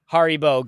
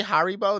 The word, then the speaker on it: Haribo: Is Haribo gummy bears.